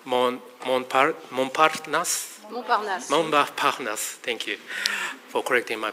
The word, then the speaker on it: Montparnasse: Montparnasse, thank you for correcting my pronunciation.